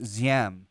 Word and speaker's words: Diem: Yeah, I see Diem. Some people I've heard pronounce it Ziem because the D, our transliteration. So Diem, D-I-E-M.